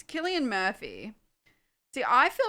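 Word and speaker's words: Cillian: Silly. No, it's pronounced Killian, isn't it?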